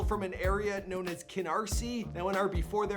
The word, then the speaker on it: Canarsie: let me know so I looked it up Keener's II Keener's ii Canarsie is an area comprised mainly